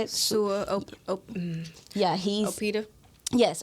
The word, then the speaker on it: Sua: Sua.